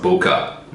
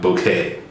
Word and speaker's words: bokeh: And yes, I do know it's pronounced bokeh, not bouquet.